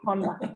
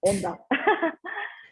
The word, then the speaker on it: Honda: Oh, you guys say Honda, not Honda. Sorry, I pronounced it the Spanish way.